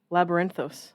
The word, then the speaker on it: Labyrinthos: tarot card app yes how do you pronounce that i'm dumb where is it the l1 down here labrunos labyrinthos you nailed it all right so this